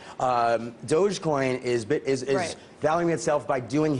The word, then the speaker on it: Dogecoin: Now I want to quickly get to this because Dogecoin, I mispronounced it before, but Dogecoin, this is your baby.